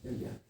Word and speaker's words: Yajna: of performance of Vedic Yajnas or karmas. Like how to pronounce this? Yajna? Yeah. So it's like, Yeah. like G, but it's not there, right? Yagya? Yeah. Yagya.